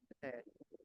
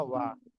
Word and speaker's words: は: হয়, ইকোরু ইকোরু অথবা ওয়া। ওয়া ওয়া মানে এই উচ্চারণ হচ্ছে ওয়া, বাট হা লেখা হয়, অর্থাৎ আচ্ছা আচ্ছা পার্টিকেল যেটা সেটা লেখা হয় হুম, পার্টিকেলের মতোই আর কি, হুম, উচ্চারণ ওয়া লেখা হয় হা।